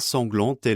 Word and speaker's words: sanglant est: Bear in mind that we get liaison between sanglant and est. This liaison wouldn't normally be pronounced in modern spoken French, but is definitely present in the song.